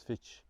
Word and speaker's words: Fitz: to the pronunciations the the local Cavern pronunciation of Fitz's Fitch so I love getting